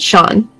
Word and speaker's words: Sean: So how do we pronounce his name? We pronounce it Sean.